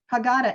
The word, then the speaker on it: Haggadah: within this this book the haggadah i think i'm saying it wrong i know i'm saying wrong um it says that's the right word haggadah is the right word